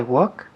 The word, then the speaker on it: walk: I walk where he walks. Good. Walk. La L no se dice. Walk. Walk, no walk. Walk, decimos.